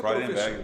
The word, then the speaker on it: Freudenberg: Agora, atuou aí também na Mercedes-Benz, DuPont, Rodia, Freudenberg, assim que pronuncia, Freudenberg, exatamente.